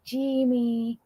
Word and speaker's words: Jamie: wrong Rick says Jamie he calls me jie jie it's just the way he pronounces it I like it you